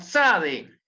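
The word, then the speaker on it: צדי: después tenemos la sade una tiene una pronunciación de dos consonantes la t y la zeta ese sonido no lo tenemos en español entonces va a ser sabe una tc está como el zumbido de una abeja o algo así y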